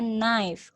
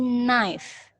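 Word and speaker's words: knife: pisau lagi ya Dek Tapi bilangnya nice hanya tidak disebutkan Mesinnya tidak diucapkan jadi nice bukan Knight atau KNIP ya tapi nice Oke lanjut ya steak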